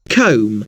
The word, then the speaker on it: comb: For example, the letter B is a fairly common silent letter. Think of the words comb, lamb, climb. The B is silent, but you'll notice that the letter M comes before the silent B.